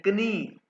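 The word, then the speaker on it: Knie: अच्छा, नी जो है ना, नी को के भी साथ प्रोनाउंस करें, कनी, कनी, ठीक है।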